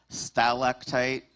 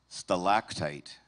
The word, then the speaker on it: stalactite: Your word has two correct pronunciations. Stalactite. Stalactite. Uh, may I please have the definition?